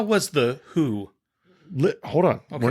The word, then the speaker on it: The Who: No, the ticket I bought said it was Megadeth, and the opener was the Who, not the WHO. The Who. It's not pronounced that way.